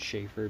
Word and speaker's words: Chafer: schaefer or the chafer i think it's called a shaffer because it's spelled ch but i mean you get ch that sounds like sure so i don't know um